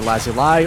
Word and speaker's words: lapis lazuli: By the way, lapis lazuli can be pronounced either lazuli or lazuli. Those are both okay.